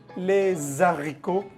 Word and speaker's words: les haricots: Por ejemplo, la frase j'aime les haricots. Normalmente uno tendría la costumbre de hacer la liaison entre la palabra les y la palabra haricots, porque comienza por H. Les haricots, ahí no se hace liaison, es prohibido.